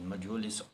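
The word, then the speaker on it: mjölis: and played majolis yamiolis it is pronounced as majulis armiolis with his guests until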